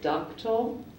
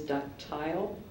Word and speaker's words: ductile: the word is is one pronunciation is ductal another pronunciation is ductile or ductal uh ductal or ductile it has a a